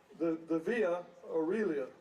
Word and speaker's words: Via Aurelia: The car was named after a Roman road, the Via Aurelia, leading from Rome to Pisa. Did I pronounce that right?